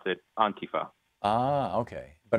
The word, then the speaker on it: Antifa: Well, the point is that the emphasis is on the beginning.